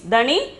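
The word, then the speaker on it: धनी: then 25th one is dhani dhani the pronunciation is dani meaning is rich okay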